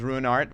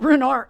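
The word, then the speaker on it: Ruinart: And then there's Ruard which is great. Well, Runart.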